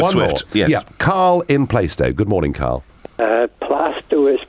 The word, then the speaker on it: Plaistow: Yeah, Carl in Plaistow. Good morning, Carl. Plasto is pronounced. Plastow.